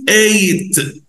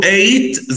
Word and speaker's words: ate: Eat, ate. Eat, ate. والماضي نقوله ate عشان في ناس بيغلطوا ويقولوا at، نقوله ate زي number eight.